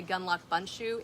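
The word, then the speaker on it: Gundlach Bundschu: my friends said the how you remember to say Gunlock bunshu is its gun lock bun shoe on your foot so that's how you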